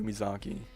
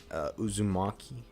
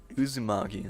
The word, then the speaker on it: Uzumaki: I can't pronounce it. Umizaki. Uzumaki. Uzumaki, that's what it was.